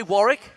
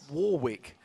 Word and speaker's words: Warwick: But first, you say tomato, I say tomato, I say Warick, and not Warwick. Anyway, Alliance's outspoken mid laner gives us a quick lesson in Danish about the pronunciation of his summoner name.